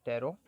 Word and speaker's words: Taro: that's steroids reward okay some people pronounce pronounce this as taro also i'll just call it tarot so let's see here